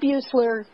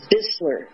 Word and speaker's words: Bissler: coming very close did buler by the way is it buler it's bissler it's bissler okay I've been mispronouncing it all the time me too did